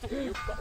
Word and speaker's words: 'eUPA: How do you pronounce it? eUPA.